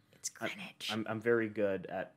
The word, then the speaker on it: Greenwich: Did you say Greenwich? No. You must have misheard me. It's Greenwich. I'm very good at pronouncing all words, and I've spent a lot of time in New York.